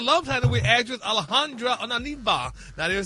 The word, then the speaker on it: Onieva: time with actress Alejandra Onieva. Now, they're saying sources saying Tisha What's Onieva? Alejandra Onieva. You said it wrong. That's not right. Wrong. O N I E V A. Onieva.